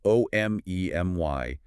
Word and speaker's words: omemy: That's spelled o m e m y dot dot com.